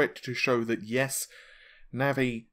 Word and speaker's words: Navi: to show that yes, Navi 12, or Narve 12 as I prefer to pronounce it, is actually coming along